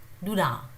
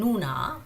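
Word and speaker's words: 누나: It is written Nuna, but it is not Nuna. They do not pronounce it as Nuna. So that Nu is not very prominent.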